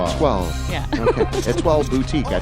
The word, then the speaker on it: Étoile: that it's pronounced like a wall, but with a T in it, a toile. You don't have to say with a French accent. Étoile.